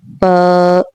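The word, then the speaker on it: ف: And when you pronounce the letter fa, so you focus on this thing that when you're pronouncing it and you are placing your upper front teeth lightly on the lower lip, then there will be a little bit air will come out from it.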